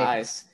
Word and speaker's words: Eysz: rachel cooperman from uh is it is eyes am i saying it right eyes that's right eyes um i like how